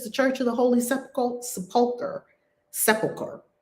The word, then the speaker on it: sepulchre: Someone is going to help me pronounce this. Sepulchre. Thank you. Sepulchre.